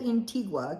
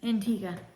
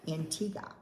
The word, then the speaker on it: Antigua: in St John's Inga I always called it intigua because you know how good I am with um pronunciations yes no but it is Antiga Antiga so what did you